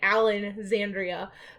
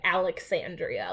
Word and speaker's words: Alexandria: the library of alexandria i'm gonna say it wrong because i'm so used to saying alan zandria but this is the actual library of alexandria like that disappeared and